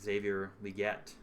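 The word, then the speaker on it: Xavier Legette: these guys even like Xavier liette as I've learned is the pr correct pronunciation um so we'll see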